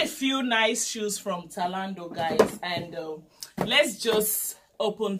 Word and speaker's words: Zalando: shoes from this online shop we call it solando in Germany and some people call it salon do I get it in Germany T or Z